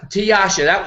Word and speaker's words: Tiyasa: how do you pronounce Tiasha that Tiasha Tiasha Tiasha like uh my name was swad in but sometimes gur used to call mewad sometimes the S pronounced sh in Bengali so Tasha Heron has